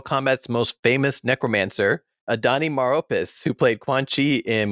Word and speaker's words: Maropis: also have mortal kombat's most famous necromancer adani maropis who played quan chi in mortal kombat conquest